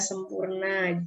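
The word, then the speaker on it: Sampoerna: Sempoirna dibaca sempurna, jangan, jarum.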